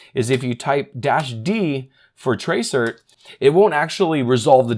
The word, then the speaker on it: tracert: is going to be a command called Tracer and this this essentially just means trace route but it's spelled Trace RT or tracert and we're going to